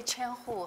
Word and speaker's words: Qian: name is chaim who if I don't say chair who how many of you will pronounce my first name correct good so it's